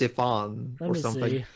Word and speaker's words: Ifans: Curt Connors played by a Welsh actor actually it's Welsh it's basically the Welsh equivalent Evans yeah all right back back guy raises pronounce Rhys Ifans anyway okay sure